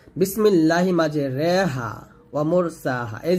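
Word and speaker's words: مجراها: এখানে রিও হবে না আবার র হবে না, বলতে হবে রে রে, এটা হচ্ছে এমালা।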